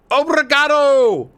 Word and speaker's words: obrigado: abogrado abrogato abragada obergato there we go obragado obrigado john you doing work in the background brother